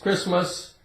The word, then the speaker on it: Christmas: We say Chris, like a man's name, Chris. And we have Christmas. It's a holiday for Christians, right? Christmas. The T is silent.